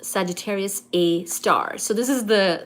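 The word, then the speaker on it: Sagittarius A*: The asterisk is part of the name, which is pronounced Sagittarius A Star.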